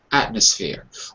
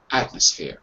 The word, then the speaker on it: atmosphere: drop it completely atmosphere atmosphere I don't even say it depend on us when I say quickly I just dropped the M completely because it's difficult to say at fear it's hard to maneuver